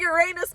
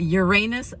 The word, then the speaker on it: Uranus: Right in front of me, we are going to go visit the Uranus Fudge Factory. I am not kidding you, and it's definitely pronounced Uranus and not Uranus.